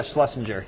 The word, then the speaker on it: Schlesinger: Schlesinger. Yeah. Schlesinger.